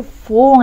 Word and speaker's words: fool: I'm not trying to fool anybody. 그 누구도 anybody, 그죠? I'm not trying to fool anybody. 자, fool 마찬가지요. O-O죠? Fool. F 발음 확실하게.